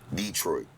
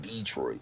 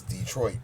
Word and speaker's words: Detroit: Detroit. Well, a lot of the players call it Detroit. You know, they use the wrong syllable.